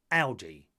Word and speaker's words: Aldi: According to the German retailer, it should be a short ow, such as with the word alloy. So, Audi.